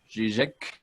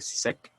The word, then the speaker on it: Žižek: Jordan Peterson y Slavoj Žižek. Se pronuncia Žižek, pero vamos a decirle Zizek.